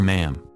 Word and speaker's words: ma'am: and then sir our ma'am to rhyme with Jam accordingly for older members